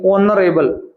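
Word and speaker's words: honourable: यहां पर देखो भाई ऑनरेबल पर्सन इसमें भी एच साइलेंट है इसको हम बोलेंगे ऑनरेबल ओनर ओनर तो यहां पर अ आ इ आ रहा है तो यहां पर भी एन आएगा।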